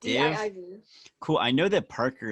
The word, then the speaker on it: DIIV: Did you say it's, how do you pronounce that? Div? DIIV.